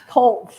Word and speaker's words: Klotz: Coles. Colts, I'm so sorry, Colts, describes the features of his request as a stone patio and appurtenances.